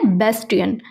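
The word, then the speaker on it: bastion: Next word है बेस्टियन, इसका pronunciation है बेस्टियन।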